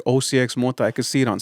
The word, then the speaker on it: OCXMOTA: As it should be, the correct pronunciation, OCXMOTA.